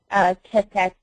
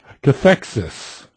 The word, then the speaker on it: cathexis: How do you distinguish between somebody experiencing cathectic? How did you pronounce that? Cathexis.